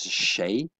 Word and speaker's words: 谁: There's one new word, vocabulary, that is 谁, second tone, 谁, who or whom.